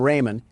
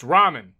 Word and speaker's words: ramen: Door Dash is on its way to deliver some Raymen, and I don't want to spill any around the pyramid floors. Uh, it's pronounced ramen.